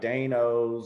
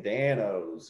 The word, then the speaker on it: Dan-O's: all capital letters so people were pronouncing it like danos or donos they weren't seeing danos you know what i